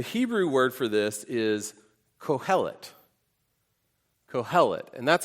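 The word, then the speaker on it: קֹהֶלֶת: The Hebrew word for this is cohellet. Cohellet. And that's how it's spelled.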